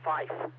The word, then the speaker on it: five: people have problems with the number five should be pronounced fife like f-i-f-e the number nine should